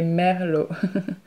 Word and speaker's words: Merlot: too bad we say melot melot melot so we don't pronounce the T so they got that